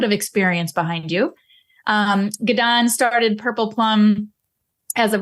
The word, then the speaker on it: Gidon: special guest for you gdan um pronounced like Get on Up um is with us